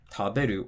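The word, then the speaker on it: 食べる: Then for 3-syllable verbs like taberu or hashiru, again, counting from the end, ru, be, the drop's going to be after the be.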